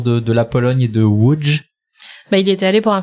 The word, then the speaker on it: Łódź: Ça se prononce comment? Łódź.